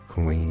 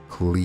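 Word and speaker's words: क्लीं: Breathe out while chanting the Kleem mantra. Kleem. Dragging the middle part out where you have expelled the breath, and conclude with so Kleem.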